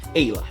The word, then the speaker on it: Aella: before saying hey lou it's pronounced ayla made out of japan